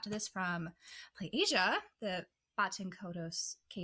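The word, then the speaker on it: Kaitos: I also got this from PlayAsia, the Baten Kados. How do you say this? Kaidos.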